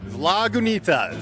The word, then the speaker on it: Lagunitas: Lagunitas. So you pointed to your knee, so Lagunitas.